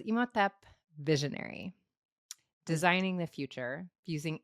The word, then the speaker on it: Imhotep: It's really potent deck, and the card that I pulled, how would you pronounce this, Millie? Imhotep.